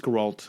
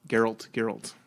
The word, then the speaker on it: Geralt: So to even like to look at the word and say, I think you pronounce that Gerald or something like that. I don't know. But yeah, it's Geralt. I think Geralt.